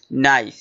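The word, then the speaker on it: knife: তারপরে লিখে আছে নাইফ। এখানে কে সাইলেন্ট ওয়ার্ড। সাইলেন্ট ওয়ার্ড উচ্চারিত হয় না। নাইফ।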